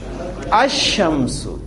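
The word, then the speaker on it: الشمس: की प्रोनंसिएशन क्या होगी अमस लाम मैंने प्रोनाउंस नहीं किया और आपको हमारी आसानी के लिए यहां शीन पर शद लिखी हुई नजर आती है जिका मतलब मतलब ये होता है कि आपने इस अलिफ की जबर को डायरेक्ट शीन के साथ मिलाकर पढ़ना है इसमें लाम प्रोनाउंस नहीं होना कौन से अल्फाज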